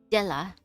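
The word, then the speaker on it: Dyla: was any meaning to Della's death. Did it end up bringing someone salvation? Her name is spelled d y l a now. Della. Okay, Della.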